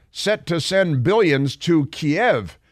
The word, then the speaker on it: Kiev: to send billions to Kiev which they pronounce keev down at the Washington Post hungary's Orban drops opposition